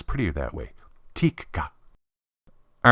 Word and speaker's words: Tikka: Finnish way it's TI there's a slight pause between the two KS and I don't know sounds prettier that way Tikka all right while we're